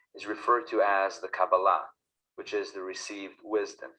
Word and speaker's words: Kabbalah: I will tell you the traditional Hebrew way of pronouncing the word is Kabbalah.